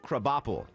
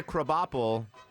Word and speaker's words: Krabappel: All right, Randy, Edna Krabappel. He is right. I'm like Edna. I remember maybe a character named Edna, an older lady, but I don't know who, crab or who. Krabappel. Spelled like crab apple.